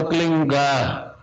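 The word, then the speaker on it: क्लीं: एक शब्द क्लीन शब्द क्या आधा ला में मिला हुआ, बड़ी की मात्रा और बिंदी, उसका उच्चारण होगा क्लीन गा। गा की ध्वनि निकलेगी पीछे। आप अंग बोलो, यहां स्ट्रोक लगता है, अंग बोलो।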